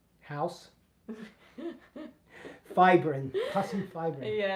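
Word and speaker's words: fibrin: fibbrin puss and fibbrin.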